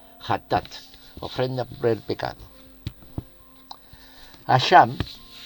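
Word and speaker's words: חטאת: Pronuncia ja, o la G en castellano, pero la CH en hebreo es ja, hatat, ofrenda por el pecado.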